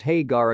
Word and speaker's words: Hägar: The name is pronounced Hägar according to Chris Browne.